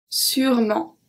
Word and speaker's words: sûrement: Sûrement. So I don't say sûrement. I say sûrement. It's one of the words when the E in the middle is just not pronounced.